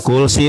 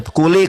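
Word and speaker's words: كلّ: Jibril berkata, "Bismillah arika minsin yuzika minarilin wafsin bukan kulsi. Eh, benar ya, kuli. Kuli bukan kulsi. Salah bacanya. Udah ya sudah diam-diam waktu saya.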